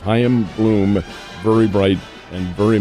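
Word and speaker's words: Chaim: the first name of ham is how it's pronounced hyim Bloom very bright and very much very much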